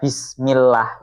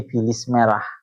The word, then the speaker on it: bismillah: Diajari baca bismillah itu bacanya jadi bilis merah. Bismillah. Bilismillah itu beda loh ya sama bismillah.